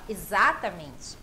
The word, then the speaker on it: exatamente: Exatamente exatamente muda totalmente Então a gente tem que falar exatamente Exatamente exatamente pronunciar todas as sílabas exatamente você Uma Mente dará ênfase certa na sílaba correta o mesmo caso acontece